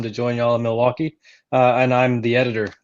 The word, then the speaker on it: Milwaukee: to know how to how to pronounce it not milwaukee milwaukee and um i was